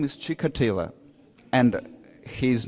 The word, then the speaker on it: Chikatilo: killer whose name is chick Attila and he is not of Spanish Spanish Jewish origin his Ukrainian Christian you see it's H sound chica tiller four syllables total coincidence because Chikatilo